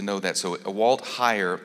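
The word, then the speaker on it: Heyer: them by I think his name is Walt higher and the name is spelled H ey er for those of you that wanted to know that so a Walt higher H ey ER and this one was published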